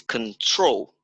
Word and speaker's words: control: So perhaps everyone, so control is not control and it's on the second syllable that is on the stress. So it's control.